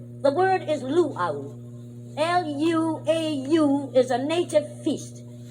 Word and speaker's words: luau: word i want to stress the word is luau l-u-a-u is a native feast you see in